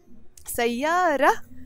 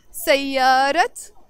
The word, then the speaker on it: سيارة: So سيارة is a feminine word. And this letter that we call تمربوطة in the end is usually silent. We don't pronounce it when the word is alone.